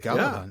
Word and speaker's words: Galadhon: Galadhon.